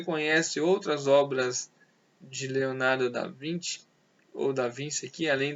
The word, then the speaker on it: da Vinci: vinte ou da Vinci se escreve da Vinci Mas é da 20 que se pronuncia é considerado um dos